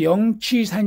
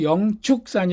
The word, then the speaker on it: 영축산: 영자 독수리 취 짜서 영취산 인데 0 취업에 불교 씩 발음은 0 축일 합니다 0 치루 하면 불교가 아닌 거예요 독수리 취 는 정확하게 표현했지만 불교식 이 아니다 그래서 불교식으로 영축산 이라고 한다 그 심양 사인 양산